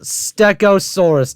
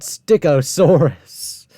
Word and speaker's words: Stegosaurus: It's pronounced Stegosaurus, not Stigosaurus. Okay, the Allosaurus, Ceratosaurus, Ceratosaurus.